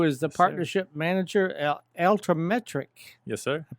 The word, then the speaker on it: Altimetrik: So we have in studio Jacob Evan Smith, who is the partnership manager at Altimetik. Yes, sir. I pronounced that right, I think, right? Yeah. Altimetrik.